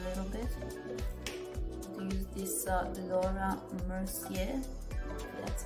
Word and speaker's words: Laura Mercier: it up a little bit use this uh laura mercier that's how you pronounce it the translucent loose section powder i'm